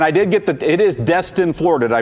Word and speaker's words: Destin: Okay, and you both, and I did get it is Destin, Florida. Did I pronounce that correctly?